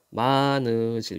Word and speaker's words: 많으실: 가시는 분이 많으실 텐데요 많으실 요때 히읗이 빠져버려요 그래서 많으실 요렇게 발음이 됩니다 많으실 텐데요 다만 벽틀